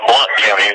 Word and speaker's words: Blount County: It's called Blount County, but it's spelled B-O-B-L-O-U-N-T. Right. And people can Google that as well.